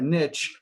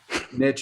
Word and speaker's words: niche: grammar Nazis and Canadians, niche is how we say niche. And we have to say niche because it rhymes with the next thing I'm going to say, which is in the niches are riches.